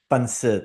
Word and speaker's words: pancit: But from what she has cooked for me, I've always liked her chicken adobo and her I think it's pronounced like bonse or bonsi. Pancit, yeah, correct.